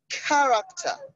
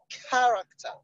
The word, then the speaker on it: character: So you have the next word, addition, character, quantity, bachelor. Now, for all these ones, options B, C, and D have their stress on the first syllable. Bachelor, quantity, character. It's not character, it's character.